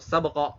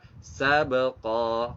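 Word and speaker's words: سبقا: Tidak boleh dibaca sabq, sabq gitu ya, nggak boleh. Atau sabqa, salah juga. Yang betul adalah sabqa, ko-nya panjang 2 harokat.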